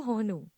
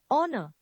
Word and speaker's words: honor: The next word is you may be pronouncing it honor. Honu. What it actually is honor.